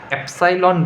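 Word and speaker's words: epsilon: है a = a एप्सोन BC ये main equation है। तो यहां पर a क्या है? तो a एब्जॉर्बेंस है। एप्सॉन क्या है? इसको एप्सोन बोलते हैं। एप्सॉन ये है स्पेलिंग एप्साइन। तो एप्सॉन क्या है?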